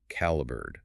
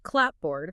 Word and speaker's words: clapboard: The spelling remained clapboard, but the tired workers compressed the pronunciation to caliber.